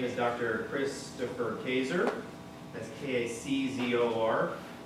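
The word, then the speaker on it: Kaczor: Christopher Kazor. That's K-A-C-Z-O-R. Rhymes with razor.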